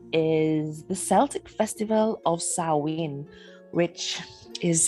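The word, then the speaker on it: Samhain: the Celtic Festival of sowin which is spelled one way and pronounced quite another so one of the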